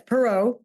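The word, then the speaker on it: Perrow: Have I pronounced that correctly? Yes, Perot.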